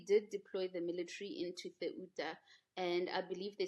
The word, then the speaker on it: Ceuta: In any case 49,000 migrants crossed the border into Ceuta. Um this is how you pronounce it in Spanish, but you write it c e u t a. So in English we would say Ceuta, but then it's Ceuta.